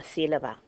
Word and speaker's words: sílaba: Okay, it should be stressed on the la, the middle syllable, the second to last, because it ends in a vowel. It's not pronounced that way. It's pronounced sílaba, so we know it's going to have a written accent.